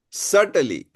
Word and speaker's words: subtly: Now pawati read pronunciation uses uses a full range of pronunciation features with precision and subtently. Ah subtly subtly subtly.